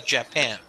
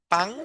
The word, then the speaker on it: Japan: In English, this is Japan. Japan. That's right. It's like Japan. No pang, sino pan. Japan.